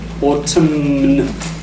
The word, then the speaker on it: autumn: In autumn, yeah, not double M, but N, isn't it? It's that weird autumn. We don't, it's silent.